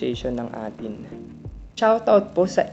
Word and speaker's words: A'tin: my live chat who told me, 'Kuya, it's pronounced 'eighteen'' Shoutout to the 'EY TEEN' community So many thanks to Ma'am Olive Arellano